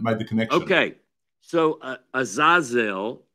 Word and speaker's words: Azazel: Okay, so Azazel is the name, or some might pronounce it Azazel, but it is found in Leviticus 16.